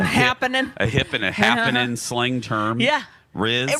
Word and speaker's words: rizz: No one says Rizzy, but Riz. We just had our own. Rizzy. Lex, no one says Rizzy. But it's Riz. It's short for charisma.